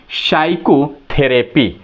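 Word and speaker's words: psychotherapy: आर ए प वाई साइकोथेरेपी ठीक है तो आप देखेंगे p से है शुरू हो रहा है लेकिन इसके तुरंत बाद क्या है s है इसलिए p क्या है साइलेंट है क्लियर अब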